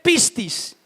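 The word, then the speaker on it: πίστις: En el texto original, la palabra fe en griego se dice pistis.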